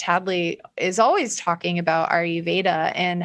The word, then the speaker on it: Ayurveda: Ayurveda.